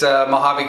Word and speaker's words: Mojave: It's Mojave KY, just in case you don't know how to pronounce it, because I know some of you don't.